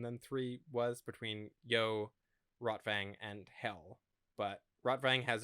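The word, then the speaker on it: Rotwang: And so he takes the map fragments to his old buddy Rotvang, not Rotvang. I guess Rotvang would be the more accurate pronunciation.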